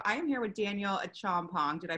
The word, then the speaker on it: Acheampong: So I am here with Daniel Acheampong. Did I pronounce that correctly?